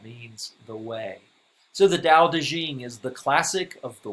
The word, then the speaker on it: Dao De Jing: lao tzu wrote the dao de jing also known as the tao te ching in our textbook it's spelled the old way with the t tau taching but the